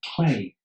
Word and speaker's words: Cley: it's pronounced Cley, spelled Cley, Cley Windmill, when that came up